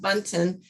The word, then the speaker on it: Bunton: We're going to go now to Button, who's from, and am I pronouncing that, but is it Baton or Bunton? Thank you. But Bunton, Sisters of Charity Foundation of Cleveland in the Cleveland Central Promise neighborhood.